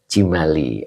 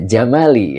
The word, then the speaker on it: Jamali: Maaf Yai, kenapa dibaca Jamali bukan Cimali? Oh iya. Ya, Jamali ya, ini dibacanya Jamali. Nah, kalau Jimali nanti bentuk masdar dari fa'ala yufa'ilu fi'alun.